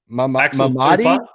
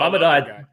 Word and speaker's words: Mamadou: Mamadi? Oh, no, Mamadou Diakite.